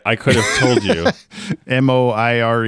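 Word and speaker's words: moiré: makes a very cool oh apparently it's just moir according to google but anyway yeah it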